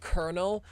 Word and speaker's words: colonel: Like why is it pronounced colonel but it's literally not spelled that way?